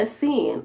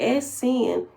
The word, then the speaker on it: Essene: From the faithist branch sprang the Essene, it's spelled Asenean. And in parentheses, it has Essene, Essenean, or Essene, Es''Eans.